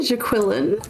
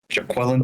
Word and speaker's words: Jaquillyn: It's jaQUILLyn, right? It's actually jaQUILLyn. Yeah, jaQUILLyn. No one ever pronounces that.